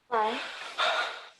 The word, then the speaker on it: Klein: Klein. Klein. It's one syllable.